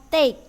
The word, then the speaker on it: take: take care of pet ingat ya di sini sering terjadi kesalahan Bacanya adalah tag salah yang benar adalah take take care of pet